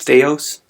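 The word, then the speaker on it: θεός: the it's actually pronounced theos that's the word the or the the first letter is the th sound and of course we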